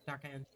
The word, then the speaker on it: D'Arcangelo: Well, Natasha D'Arcangelo, did I say it right? D'Arcangelo. Yes, you did.